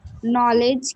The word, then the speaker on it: knowledge: Knowledge. K silent. Only K silent. D silent also. D silent also. So we call it knowledge.